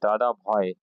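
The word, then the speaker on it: Dadabhai: तो पहले इंडियन थे दादा भाई, अब ये दादा भाई हम कहते हैं, लेकिन एक्चुअली प्रोनाउंसिएशन जो पारसी कम्युनिटी के हिसाब से है, इट इज दादा भाई, BHOY।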